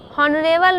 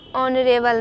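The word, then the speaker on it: honourable: उच्चारण क्या हो रहा है, यहाँ पे उच्चारण है वॉवेल की। एन ऑनेस्ट मैन, एन हॉनेस्ट मैन पढ़ना गलत है, एन हॉनरेबल मैन गलत है, एन ऑनरेबल मैन, N higher, तो यहाँ पे ईटीसी।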